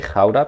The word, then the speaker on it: Gouda: And I said, the only right way to say Gouda is the Dutch way, Gouda, because it's from a city in the Netherlands.